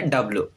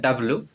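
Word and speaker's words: W: Then उसके बाद आता है डब्ल्यू, हम सभी लोग बोलते हैं डब्ल्यू, ये इनकरेक्ट प्रोनाउंसिएशन है। इसको क्या कहेंगे डबल यू, डबल यू, ठीक है।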